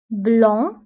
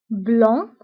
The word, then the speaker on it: blanc: nuit la nuit أبيض blanc blanc ما كنتقولش سي في آخر الكلمة كنقولو blanc وأسود noir noir